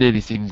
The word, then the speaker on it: anything: About the G, you have to just remember that it's a very, very, very quiet G. It's not worse, but worse. Not g, but g. Okay, so there isn't anything worse. In fact, it's so quiet, I think maybe it's better I take it out.